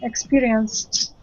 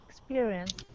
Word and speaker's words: experienced: experience it no uh after s pronounce t without anything in between them experienced experienced yes exactly here is